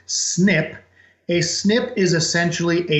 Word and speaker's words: SNP: is an SNP or how we pronounce it is snip a snip is essentially